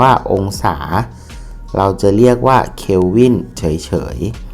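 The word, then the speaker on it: Kelvin: เว้น ม.ค สี เขียว วิน จะ อ่าน ว่า calvin เฉย ๆ ที่ นี้ เนี่ย ตอน เนี้ย เรา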